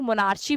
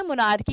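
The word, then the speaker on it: monarchy: हैं मोनार्की कहते हैं कुछ लोग मोनार शी भी कहते हैं जस्ट बिकॉज लगता है कि यहां पर च की साउंड है सो दैट्ची कहते हैं मोनार्की कहते हैं जब कॉम्पिटेटिव एग्जाम के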